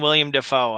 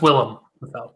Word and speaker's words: Willem Dafoe: between Henry Cavill and William Dafoe, how big are you? It's Willem Dafoe.